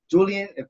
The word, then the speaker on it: Julian: we have my boy right there um um julian is that correct mike can i pronounce it correct yeah bro yeah so he's